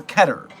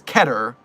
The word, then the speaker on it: Keter: But the next best thing is Keter, rhyming with cheddar. It's not by any means Keter, rhyming with meter.